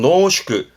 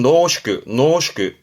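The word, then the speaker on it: 濃縮: 발음은 노슈크. 진하게 줄여져 있는, 진하게 졸여져 있는 걸 농축액 그러잖아요. 그 농축입니다. 발음은 노슈크.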